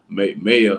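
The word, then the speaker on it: Maia: I know it's supposed to be pronounced Maya, like May hyphen I AH.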